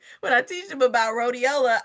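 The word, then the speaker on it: Rhodiola: I teach them about rodeiola, I make that thing because it's rhymes with Motorola.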